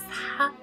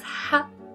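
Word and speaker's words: ح: is like this hat the pronunciation is hot and we write like this this is the shape of the letter and pronunciation again is hot then you have the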